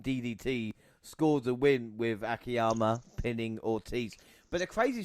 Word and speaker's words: Akiyama: Monty, you're going to have to help me out here, because it was Akiyama, the right way to say his name.